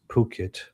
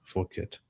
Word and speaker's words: Phuket: Aussie couple busted in, this is pronounced Phuket, not Phuket, just for clarification.